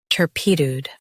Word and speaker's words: turpitude: Tur, p, tud, turpitude. U.S. stress tur, UK stress pi.